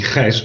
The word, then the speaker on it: Gijs: Yeah, thank you, Robert. It's actually Gijs, but it's a horrible Dutch name which nobody else can pronounce.